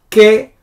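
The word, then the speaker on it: כְּכוֹכְבֵי: Ke kochave. That's how you pronounce. Ke-choch-ve. Because this is Shava, so you just end the syllable here.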